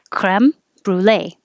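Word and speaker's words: crème brûlée: to american pronunciation brule we usually keep the french pronunciation of cream american to more creme french so we kind of do half creme brulee creme brulee waterfall waterfall alienate alienate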